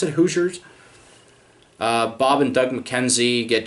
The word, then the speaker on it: Hoosiers: most famous hoes losers Hoosiers is how you pronounce it Hoosiers Bob and Doug McKenzie get jobs at the